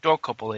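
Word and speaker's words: Dokoupil: The guy Tony Dorkopel, he said Dorkopel, I think it's pronounced.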